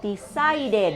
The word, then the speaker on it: decided: one else with it but it ends with the D sound okay so to form the past we say I decided s decided so in this case we